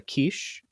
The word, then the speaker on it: Kiss: a a gentleman named Bella Kish in English we normally say kiss with his name but I've been working on my pronunciation Bella Kish and very Infamous serial